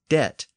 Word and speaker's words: debt: and fixed it was decided to insert a B in the word debt to to indicate that the Original Latin word had a b in it so he ended up with the modern spelling with a silent B now the word debt